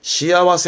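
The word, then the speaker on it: 幸せ: 여러분 암직한 것은 새가 나올 때 발음은 시아와세. 이때는 그렇죠. 행복의 행입니다. 행복의 행을 시아와세 하는 거고 이가 나올 땐 발음은 사이와이.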